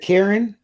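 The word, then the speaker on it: Qirin: the baby's name yeah is it Karen spell it Q that's it yeah q-i-r-i-n am I saying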